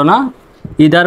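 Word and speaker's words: neither: যেকোন একটিকে বুঝায় আর নিদার মানে দুই এর মধ্যে কোনটিকেই বোঝায় না তবে এই দুটির উচ্চারণ আরো অন্যভাবে করতে পারবেন সেটা হলো আইদার নাইদার দুটি উচ্চারণই সঠিক ইদার নিদার অথবা আইদার নাইদার মাই self এমওয়াই মাই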